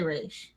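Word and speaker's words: Ra's: It's always been 2 ways of pronouncing it, to be fair. Some people say Roz and other people say Raish. I believe his creator, Denny O'Neil, says Raish, doesn't he?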